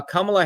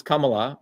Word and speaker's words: Kamala: Shiva versus Kamala. And that's how you say it, Kamala, with the Tamil Indian accent, not Kamala. It's Kamala.